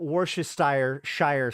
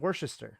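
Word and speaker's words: Worcestershire: to say it no that that is how to pronounce it worest sauce not worest Shire sauce it's worest you basically just ignore the spelling wor to Shire no all right you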